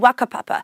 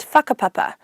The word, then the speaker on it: whakapapa: Like, you might notice me saying words like wānau and wakapapa, when it's normally said as whānau and whakapapa. I'm not saying it wrong, that's just my local dialect from Whanganui.